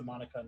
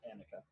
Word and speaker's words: Monika: i should have mentioned her roommate's name was a monika not annika sorry okay that was my bad i said it wrong the first time okay um so ritzko